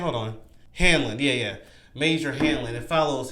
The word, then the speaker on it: Hanlon: The first is Major Hamlin. Hanlon? Wait, is that how you say his name? Hold on. Hanlon, yeah.